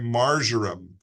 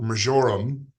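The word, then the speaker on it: marjoram: concerned shinin Yoku and margarum or majorum depending on how you say it are helpful for um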